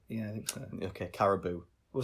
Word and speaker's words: Caribou: Never Come Back by it's either Caribou or Carabao. I don't know how we're pronouncing this one. I've always said Caribou. Caribou, okay. I think it probably is Caribou. It's B-O-U in it. It should technically be Boo, yeah.